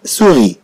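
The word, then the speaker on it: souris: كما في مثال كلمة سوغي. كلمة سوغي تعني فأرة. إذن كما نرى بأن كلمة سوغي تتضمن جوج ديال حرف أس، حرف ينطق وحرف في آخر الكلمة لا ينطق، كما هو الحال للكثير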